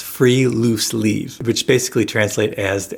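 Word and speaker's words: friluftsliv: So next time we're going outside to possibly against your will to talk about the next Nordic happiness concept, pronounced free loose leave, which basically translate as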